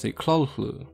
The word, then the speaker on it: Cthulhu: obsession of Lovecraftian horror Lovecraft actually never intended for Cthulhu to be pronounced the same way we pronounce it today he also himself pronounced the clue which definitely isn't roll off the tongue the same ways Cthulhu does the work of HP